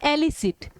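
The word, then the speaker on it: elicit: Pronounce कैसे करना है? एलिसिट। इलिसिट इल से बना है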